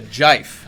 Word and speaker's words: GIF: I mean, and I'll also say, so there was a GIF, if you will allow me to pronounce it thus. It's a jife, as I recall.